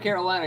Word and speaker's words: Carolina: actually, listen, that's twice in a row right there, Brian, that he's Carolina. pronounced Carolina without an R.